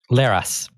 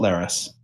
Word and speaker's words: Laris: face and pronounced nose laris it is not lares emperor Sherman his Emperor